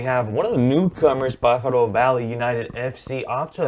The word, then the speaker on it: Pájaro: But now let's go to NorCal as we have one of the newcomers, Pájaro Valley United FC, off to a 3-0-0 start.